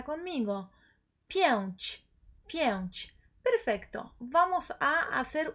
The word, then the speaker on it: pięć: Y casa, también, con un cambio, entonces, chi, pero siempre es pięć. Pronuncia conmigo, pięć, pięć.